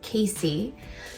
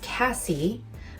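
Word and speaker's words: Casie: But for those of you that don't know, my name is spelled C-A-S-I-E, but it's pronounced Casey. It's often mispronounced as Cassie.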